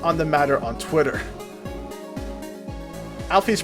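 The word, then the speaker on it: Alphys: Alfie's name is pronounced, Toby Fox reveals that it's pronounced Alfie. I might have pronounced her name as Alfus before, but that's because that's how I've used it for a long time. And only recently has it been revealed to me that canonically it is pronounced as Alfie.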